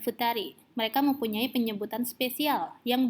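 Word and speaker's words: ふたり: Yang berbeda hanya sendiri dan berdua. Hitori dan futari. Mereka mempunyai penyebutan spesial yang berbeda dengan pengucapan sangnin, yongnin, dan angka lainnya. Jadi bukan ichinin atau ninin, tapi hitori dan futari.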